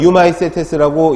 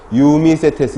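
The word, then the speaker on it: Eumycetes: 진균류는 유마이세테스라고 읽어주시면 됩니다. 자, 수업을 들으시는 분들 같이 하시면 유마이세테스, 유미세테스 이렇게 읽지는 잘 않으니까 유마이세테스 이렇게 같이 읽어주십니다.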